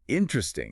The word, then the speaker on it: interesting: Interesting is a great one. We almost always drop that first unstressed e sound. We say interesting, not the full four syllable.